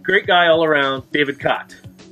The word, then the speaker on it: Chott: guy all around David cot it's hot not shot the H is silent thank you yeah you're